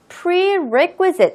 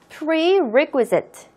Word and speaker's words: prerequisite: 선행학습은 영어로 prerequisite 이라고 읽습니다. 다시 한번 더. prerequisite.